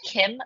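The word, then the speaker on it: CIEM: are using and so this is pronounced Kim like the name um it's a cloud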